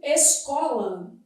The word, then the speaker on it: escola: Por exemplo, não palavra tipo escola, não é dígrafo. Isso aqui é encontro consonantal imperfeito. Por quê? Porque o S é pronunciado, ó.